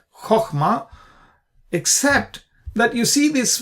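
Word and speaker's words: חָכְמָה: But in any case, if this is a closed syllable and it's an unaccented syllable, meaning the accent is not there, the accent is on the other syllable in the open syllable. Okay, so we pronounce it as chokhmah.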